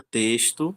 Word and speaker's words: texto: Da mesma forma, a palavra texto a gente se escreve eh com X, porém ela tem um som de s, texto.